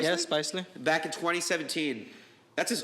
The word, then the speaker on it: Spicely: Spicely? Yeah, Spicely.